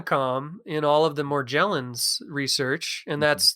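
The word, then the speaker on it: Morgellons: in all of the more gel ins research and that's that is the correct pronunciation of it it's a soft G because it's back to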